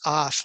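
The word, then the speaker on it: אף: to the next word, which is aleph and a pace of feet, pronounced af, like af.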